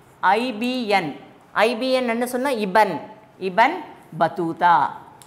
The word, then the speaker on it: Ibn Battuta: Another important traveler, Ibn Battuta. He was an Arab traveler. Say all of you, IBN. IBN enna sonna Ibn. Ibn Battuta.